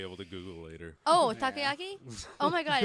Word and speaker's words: takoyaki: Oh, takoyaki?